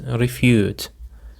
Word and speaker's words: refute: Okay, dear listeners, now let's have the last word which is refute. Refute. The stress is on the second syllable.